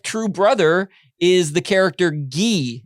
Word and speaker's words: Guy: brother is the character gee it's spelled guy guy pronounced gee in mighty ducks and